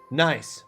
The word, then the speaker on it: Nice: Nice. Pronounced nice. A coastal sibling in France.